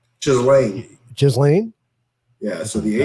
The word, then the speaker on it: Ghislaine: Ghislaine. Ghislaine? Yeah, so the That H is doesn't sound very silent. good. Oh. Okay. Ghislaine That's Maxwell. not a good Ghislaine name. Maxwell. Her Anyway. name is Maxwell. Ghislaine.